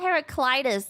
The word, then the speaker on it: Heraclitus: Heraclitus.